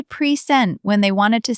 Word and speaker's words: present: So present, the second syllable is quick, soft, like sent but shorter.